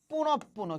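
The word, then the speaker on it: পুনঃপুনঃ: তাহলে এই যে দেখো বিসর্গ আছে, তাহলে বিসর্গের পরের বর্ণ কি, প, তাহলে প কয়বার উচ্চারিত হবে, দুইবার উচ্চারিত হবে।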